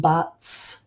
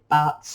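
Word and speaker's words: B'atz': for the monkey is buts you know everyone pronounces that differ differently but I just put out their bats if you have any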